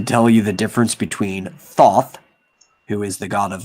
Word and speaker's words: Thoth: the best sagas yeah thoth is actually one of those gods names that i've pronounced wrong for the longest time because usually especially with egyptian and semitic languages if you see an o it always makes the o sound so it should be thoth but it's a bad